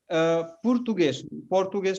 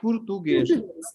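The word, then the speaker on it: Português: सो पोर्टुगेज नहीं, पुर्तुगेज। यस, पुर्तुगेज। एक चीज और अच्छा हुआ कि आपने ये पूछा। तो जो भी शब्द पुर्तगाली में एस पे खत्म होगा, है ना, खत्म तो एस पे हो रहा है, लेकिन उसका उच्चारण श से होगा, है ना।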